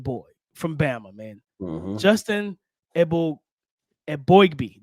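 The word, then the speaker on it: Eboigbe: from Bama man Justin e Abby that's what I didn't say it right the previous pod that we talked about him but I got it just now Justin EG boy man like yes Blake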